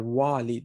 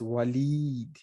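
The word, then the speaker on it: وليد: one is somebody's name it's not walid it's waleed so be careful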